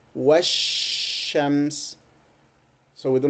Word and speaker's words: والشمس: So it takes longer time to pronounce. So we say washams.